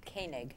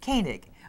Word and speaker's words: Koenig: Well, my first guest, who's Karen, and you pronounce it for me, Koenig. Koenig. Koenig.